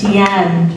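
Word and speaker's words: Deanne: My name is Dian. That's how you say my name, Dian. I think I said just recently, I just said not Dian Sastro, Dian.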